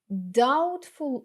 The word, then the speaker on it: doubtful: She gave me a doubtful Look She gave me a doubtful Look Зверніть увагу що літера B не читається І ще одне речення